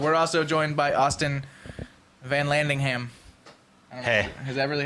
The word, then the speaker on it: Vanlandingham: also joined by austin van landingham hey is that really how you say it yeah it's just like it's spelled it's not like nothing